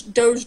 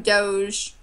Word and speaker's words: doge: up with the name doge this is do GE and sometimes juji's pronounced like a J or whatever ya know